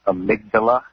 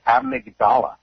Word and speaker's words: amygdala: I know she's a nurse, but it's pronounced amygdala in the brain.